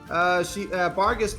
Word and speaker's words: Barghest: Bargast was a fae being, essentially known for being a wolf of bottomless hunger.